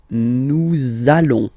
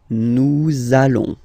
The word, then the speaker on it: nous allons: it does mean that you will have to pronounce this z sound, okay? Listen to me. Nous allons. Nous allons.